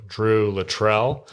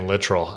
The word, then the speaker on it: Littrell: It was me and Drew Littrell. Is that how you say it? Yeah, we clarified that on the podcast. I've been saying Littrell. I don't know why. Maybe it sounds more Kentuckian to me.